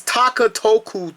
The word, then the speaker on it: Takatoku: But it's Takatoku Toys, T-A-K-A, sort of like Takara, and then you got T-O-K-U, Takatoku Toys.